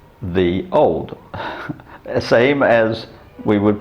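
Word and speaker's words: Ye Olde: like ye oldie but it should be pronounced the old same as we would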